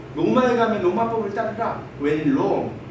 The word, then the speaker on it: Rome: When Rome. 이때는 로마나 이렇게 있지 않고 롬이라고 읽어요.